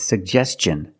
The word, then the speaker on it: suggestion: suggestion that's right it's suggestion because the ti n is after an S make the hard CH sound like chicken suggestion let's look at the